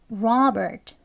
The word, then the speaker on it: Robert: 더 가깝게 할 수 있어요 그렇게 발음이 되어서 Robert Robert라고 발음합니다 두 번 같이 해볼게요 Robert Robert 예이 끝에 오는 트 소리는 아주 약하게라고